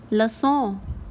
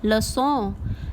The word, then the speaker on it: le sang: Blood is le sang, le sang. The sound of 100 is also sang. So it is pronounced the same way as we pronounce 100.